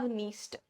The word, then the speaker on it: Dniester: Another important river, Dnieper, Dniester. D है नाम में but D is silent. So we have Dnieper, we have Dniester.